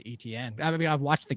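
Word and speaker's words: Etienne: pronounce travis's last name i always thought it was in like you know the french steven no it's e t like e letter t letter n like etn i mean the guy's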